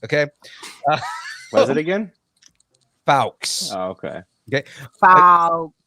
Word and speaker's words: Fuchs: with Barbara Muschietti and Jason Fawkes is how you say that name. Are you sure? It's Fawkes.